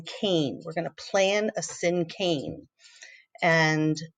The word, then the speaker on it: cinquain: sin cane all right sin cane poem it's pronounced sin cane just like I typed right there it uses many verbs